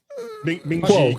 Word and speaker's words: Kuo: And according to reputable analyst Ming-Chu Kuo, I think that's how you say it. Kuo, that's it.